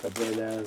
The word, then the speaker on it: Abellia: But like you know, here here are like face plates for like Abelia's.